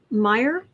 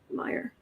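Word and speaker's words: Meijer: peter james meyer peter meyer mayor m-e-i-j-e-r if it's dutch the j is silent so i'm going to say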